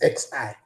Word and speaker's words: xi: The pronunciation of this is xi, xi 1, xi 2, xi 3.